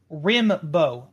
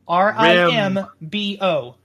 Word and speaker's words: Rimbo: And for the listeners, Rimbo, Rimbo, Rambo and Bimbo.